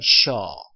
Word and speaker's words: sure: 그래서 sure, 그 다음에 r 밑으로 보내보세요. 그래서 sure 이렇게 발음을 해봤고요.